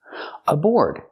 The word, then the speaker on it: aboard: at the first word aboard use the or sound like floor and more plus the